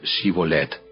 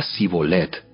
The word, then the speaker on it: Shibolet: Ellos le pedían que pronunciara la palabra Shibolet. Si era de Efraín, diría Sibolet, porque a la gente de Efraín le cuesta pronunciar bien esa palabra.